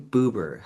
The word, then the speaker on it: Buber: I don't know if it was like 40s, 50s and his name was Martin Buber. Hilarious name, but it rhymes with Goober.